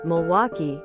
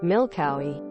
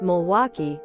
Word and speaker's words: Milwaukee: them for some reason my stupid brain always read Milwaukee as milk Cowie so every time I